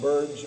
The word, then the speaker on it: Burge: And Burge, by the way, my wife looked up and it's pronounced Burge. I didn't know Burgie Burge, but it's Burge. And she got tired of me saying Burgie.